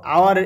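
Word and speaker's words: hour: তাও দেখো half an আওয়ার, দেখো আওয়ার এখানে H এর কোনো উচ্চারণ নেই, উজ্জ আছে, সেই জন্য কিন্তু এর আগে N বসলো।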